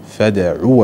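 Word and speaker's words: فادع: كلمة فدعوا واستقم، فدعوا أصلا فدعوا لكن الفعل الأمر هنا يكون بحذف الحرف العلة، فدعوا واستقم يعني نحذف الواو وننطق بعين مضمومة، فدعوا واستقم، فدعوا واستقم كما أمرت.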